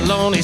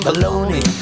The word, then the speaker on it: bologna: A bologna sandwich man. So come on. Feed me some bologna. I like that meat that rhymes with Tony.